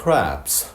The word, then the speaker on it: crab: 이 CRAB는 crab, A부터 해서 B까지 좀 길게 발음하고 약하게 끝냅니다.